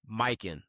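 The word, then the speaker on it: Mykyn: We want to show some love to our first ever sponsor, Mikin. That's spelled M Y K Y N.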